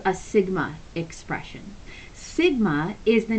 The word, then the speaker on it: Sigma: S and in Greek the letter S is pronounced Sigma so while we say s they say Sigma and it's their equivalent of a giant s so if you want to see that written out Sigma is spelled s IG MA and this is